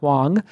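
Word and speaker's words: Huang: my guest today Laura Wong and it's pronounced well it's pronounced wong wong but it's spelt and you can follow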